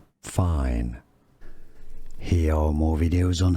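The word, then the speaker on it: Fein: This is indeed a brand name for tools, also a song by Travis Scott, and a surname, German pronunciation, fine. In English, how to pronounce fine.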